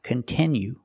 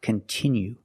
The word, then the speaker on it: continue: It's not pronounced continue. It's pronounced continue. We have to use the short sound I like this is. We have the letter I, which makes the sound I, and it's a stressed syllable.